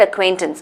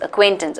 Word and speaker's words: acquaintances: me get this right usually people tend to choose B because they think it's pronounced like tense but it's not it's not like buns